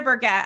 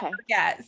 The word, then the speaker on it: Burgett: It's Burgett. I always say never forget Burgett.